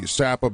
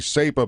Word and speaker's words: SAPA: to go deep on the sappa bill or if you want to pronounce it the sapa bill and this concerns all